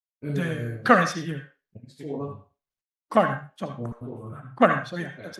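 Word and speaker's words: krone: corner.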